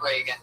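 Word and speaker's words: Regan: It's announced like Ronald Reagan. Pat Reagan, but there's no A in that. Follow him on Twitter at Patty Reagan.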